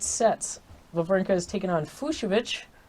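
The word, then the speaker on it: Fucsovics: lavranka is taking on fushovich pronounced like fuchsia very fun but fuchsia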